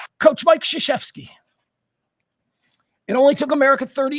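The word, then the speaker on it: Krzyzewski: all time coach Mike shashy not spelled anything like it's pronounced uh Duke basketball I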